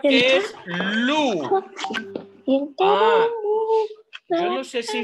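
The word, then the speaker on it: loup: Luye tu. Entonces, ¿qué palabra? ¿Qué palabra de esa canción se escribe con la sílaba lu? El lobo. Ajá. Voilà, lobo se dice lu. Solo le agrego una P.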